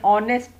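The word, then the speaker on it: honest: तो हमने ए लगाया, लेकिन कुछ जगहों पे एच की साउंड नहीं आती, एच को साइलेंस कहते हैं। साइलेंट होता है या वॉइसलेस होता है, तो वहाँ पे एन आवर ओ की आवाज़ है, एन ऑनेस्ट मैन, तो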